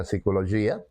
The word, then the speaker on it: psicologia: todas as definições da Psicologia digo em espanhol psicologia vocês em português farão questão de pronunciar o p psicologia que a mim me custa um pouquinho mais mas então eu vou